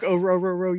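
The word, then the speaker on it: Orhorhoro: He's like, it's like the boat. It's row, row, row. your boat. Yeah. Rook Ororo.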